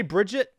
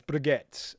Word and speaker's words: Brigitte: the name wrong cuz I want to say Bridget but it's not Bridget it's better get forget Lindholm who's table